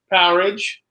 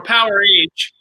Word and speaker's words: Powerage: What's the correct pronunciation? I always call it Powerage. I think it is Powerage. Yeah, most people call it Powerage. I think the band has called it Powerage when they talk about it.